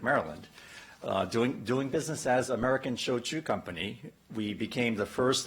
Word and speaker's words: shochu: Doing business as American Shochu Company, we became the first and only genuine shochu distillery in North America right here in Maryland. Shochu, which is pronounced like trade show, Chewbacca, is the other traditional Japanese spirit, the not sake.